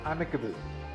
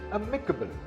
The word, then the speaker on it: amicable: This word is not amicable. This word is amicable. The second syllable is stressed.